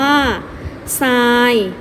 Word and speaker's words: ทราย: ทหาร ควบ กับ ตัว รอ เรือ มี อยู่ หลาย คำ เลย นะ คะ นัก เรียน ยก ตัว อย่าง เช่น คำ ว่า ซาย อ่าน ว่า ทราย ทราบ อ่าน ว่า ทราบ